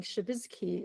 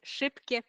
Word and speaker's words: Szybkie: I was thinking Shabizki or No, no, it's Szybkie Puzzle.